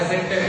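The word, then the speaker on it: adjective: तो ये होता है एडजेक्टिव, यहाँ पे डी लेटर साइलेंट होता है, साइलेंट लेटर जरूर भी हम आपको बाद में बताएंगे।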